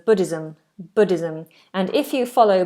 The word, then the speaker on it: Buddhism: Buddhism. It's a Z sound. Z. Buddhism.